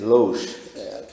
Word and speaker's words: loge: Então, ela é loge, né? Loge.